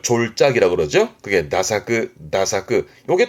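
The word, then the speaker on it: 駄作: 이게 태작이라는 건데 일단 발음은 나사 나사그합니다.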